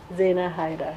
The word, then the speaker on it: Zaina Hydar: and stylist Xena hey da da how it's pronounced Xena hide hider yes Xena hider yes I'll come back to you in a